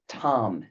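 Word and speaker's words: tam: And the bottom one is her seed syllable. Tomm.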